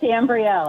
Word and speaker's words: Ambrielle: Hi, it's Ambrielle, actually.